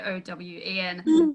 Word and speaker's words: Eoin: I always love when you see it written somewhere and it'll be like Eoin Colfer, pronounced Owen, O-W-E-N.